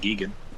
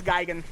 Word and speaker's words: Gigan: so it's so goofy was it pronounced gigan i've always pronounced it gigan that yeah it's geigen but you know what